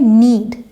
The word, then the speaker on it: knead: English में नीड, KNEAD, के silent है।